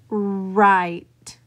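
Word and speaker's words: write: For example, the W in right is not pronounced w, right. It is just right.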